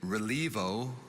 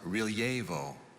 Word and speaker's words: relievo: i'll ever be excellent your word is relivo also pronounced relievo uh can i have